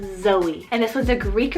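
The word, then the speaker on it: Xoie: This one is spelled X-O-I-E, Zoe.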